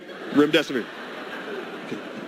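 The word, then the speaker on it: remdesivir: say Rim Des of I actually pronounced it your death is near Rim Des of that helps you remember all right so 5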